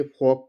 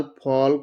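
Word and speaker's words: folk: FOL के फॉक, फॉक मतलब होता है जनसमूह। WAL के वाक, वाक मतलब होता है चलना। इसको टाल, फॉल्क, वाल्क, चाल्क नहीं पढ़ेंगे। इसको सीधा इसका प्रोनाउंसिएशन है टॉक, फॉक, वाक, चाक।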